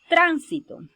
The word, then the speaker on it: tránsito: la tercera si la observen tránsito luego tenemos tránsito y por último tránsito observen como en estas palabras